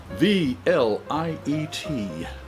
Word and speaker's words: Vliet: We have from Threes Brewing Company, Vliet, V-L-I-E-T. V-L-I-E-T. The light's a little coming in a little here, so it is a Pilsner, 1 pint, Threes Brewing Company. Let's see. Vliet rhymes with treat.